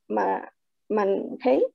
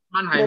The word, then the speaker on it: Mannheim: en radioterapia en la Facultad de Medicina de Mannheim, está bien pronunciado, de Mannheim, la sí.